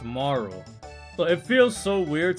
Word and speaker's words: Marle: uh so I always used to call her Marley. Always always always always called her Marley when I used to play this game when I was younger. And so I I realized it's actually pronounced Maro.